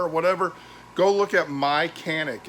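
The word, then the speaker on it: Mychanic: in your car or whatever go look at my canik it's spelled m-y-c-h-a-n-i-c they're american company based out i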